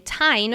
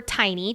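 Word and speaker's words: Teine: However, Mira is not come off from her dragon, Tyne, or Tiny, depending on which platform you're listening on. We're going to go with Tyne since that's how Rebecca pronounces it.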